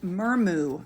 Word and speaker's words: Murmu: Murmu, I believe is how you say her name, was seen at Westminster Hall as well.